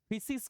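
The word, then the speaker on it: φύσις: उस वर्ड को फिसिस कहते थे। फिसिस बहुत लोग इसका प्रोनाउंसिएशन जो है वो फिसिस ना करके फुसिस करते हैं।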